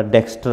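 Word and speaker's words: dexter: ER वैसे जहाँ पर भी लगता है तो R है, इससे पहले वावेल हो तो बोला नहीं जाता, थोड़ी सी साउंड आती है डेक्स्टो डेक्स्टो।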